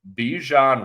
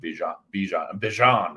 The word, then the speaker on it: Bijan: I think Ritter has been playing safe games because he's able to just feed Bijan. That's how you say it with the accent, I believe.